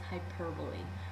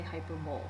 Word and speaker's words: hyperbole: blank for Hyperbole and notice how it's spelled you don't say hyperb you hyper